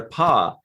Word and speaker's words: Pah-wraith: Realize, okay, so when they're touching the guy, when there's like caressing somebody's ear or whatever, and they're testing their paw, it's spelled P-A-G-H, right?